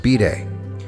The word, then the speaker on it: bidet: With the third example, the privacy of the bathroom has been invaded, this time by a device by the unlikely name of bidet, pronounced bidet.